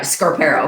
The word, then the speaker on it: Scarpero: Scarpero.